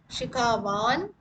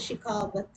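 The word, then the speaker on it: शिखावत्: Shikhavan, we pronounce it, but the main word is Shikhavat.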